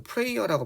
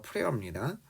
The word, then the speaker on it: prayer: 이거 prayer라고 발음 안 해요. prayer입니다.